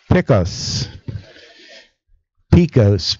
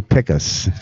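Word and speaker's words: Pickos: Of course, a lot of people pronounce it Picos Picos, but it's actually Picas.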